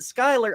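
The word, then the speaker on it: Schuyler: We have a um around my area there's a whole bunch of streets named Skyler, but it's spelled Scheler. But if you say where's Schuler Street, people look at you funny because they have no idea what you're talking about.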